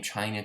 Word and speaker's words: Qin: chinese history the name china comes from the sanskrit cena derived from the name of the chinese kin dynasty or qin dynasty it's pronounced chin although it's spelled q-i-n which was translated as